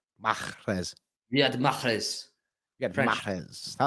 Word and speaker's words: Mahrez: You're supposed to pronounce the H in Mahrez. How do you spell? Mahrez. Mahrez.